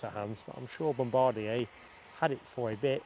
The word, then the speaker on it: Bombardier: I think it must be called Bombardier because it is Bombardier, isn't it?